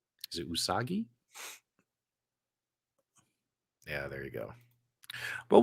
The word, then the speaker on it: Usagi: soggy I can't say his name is it usagi yeah there you go well we can dive